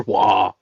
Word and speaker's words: Roy: Is he another wah? He's a wah. I'm not even joking. He's a wah. What am I missing? Spelling your name R-O-Y and it being called and it being pronounced wah.